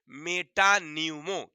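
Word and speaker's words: metapneumo: क्या बोलेंगे मेटा न्यूमो virus P silent है वहां पर अंग्रेजी में लिखेंगे तो आप एम ई टी ए पी एन ई U ammo लेकिन वहां पर पी साइलेंट रहता है बोलने में हम उच्चारण में नहीं बोलेंगे बोलेंगे मेटा न्यूमो क्या बोलेंगे चलिए बहुत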